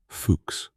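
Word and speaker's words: Fuchs: The Trans Antarctic Expedition is the brainchild of an English geologist called Vivien Fuks, pronounced Fuks, who wants to do something no one has ever done.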